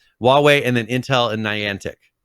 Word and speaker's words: Huawei: them uh with them on this and then hawaii hawaii is a way way is now it is that's it i'm sorry i'm trying to get the pronunciation right huawei and then intel and niantic um but china